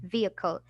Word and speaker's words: vehicle: So vehicle, not vehicle. There is no H. You will not pronounce the H, and it will be vehicle.